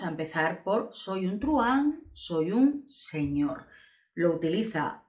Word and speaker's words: truhan: Se escribe así, son seis letras, pero es una sola sílaba. Es el monosílabo más largo del español, porque la H intercalada no separa el diptongo que forman la U y la A, y por lo tanto